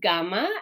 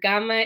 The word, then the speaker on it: gamma: So this is gamma, and gamma is a G sound, and it's a G, a hard G sound. So like in Latin, remember the letter G in Latin is always G. Same thing here. This is not a J sound in Greek.